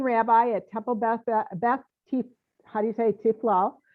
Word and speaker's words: Tiffiloh: at temple beth haritay tiflo law it rhymes with tequila oh well good in